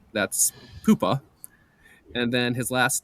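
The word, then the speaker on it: Pohpha: points per game, but read reading his uh pronunciation guide here. Poopa is his first name and his last name is Warner.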